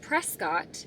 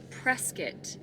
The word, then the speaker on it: Prescott: Firstly, I have been mispronouncing the name of this city. How about I've been calling it Prescott. It is not Prescott, it is Prescott.